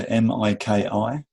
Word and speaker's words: Miki: Miki, so Miki.